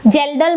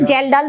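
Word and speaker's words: Kjeldahl: serum protein estimation are gelal method K is silent here K is silent the pronunciation is gelal Method and we have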